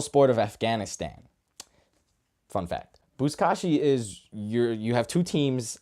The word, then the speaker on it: buzkashi: I mean, the name of it is buzkashi.